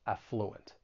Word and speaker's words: affluent: that uh sound affluent you may hear both of these but I think more commonly people are going to stress that first syllable affluent then there's the word